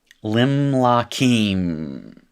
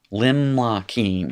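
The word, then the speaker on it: לִמְלָכִים: So we have a closed, unaccented syllable now. Lim. Limlakim is what you have. Lim La Keem.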